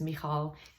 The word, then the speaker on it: Michal: It really doesn't bother me, and I will respond to all sorts of versions of it, like Michelle or Michal or Michael. But the proper pronunciation is Michal. It's an Israeli name, and it's very popular in Israel, but not so much in America.